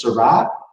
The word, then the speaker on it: Shiraz: But Shiraz, the Syrah grape was brought to Australia and it was called Shiraz, Shiraz. But it is 100% exactly the same grape as Syrah.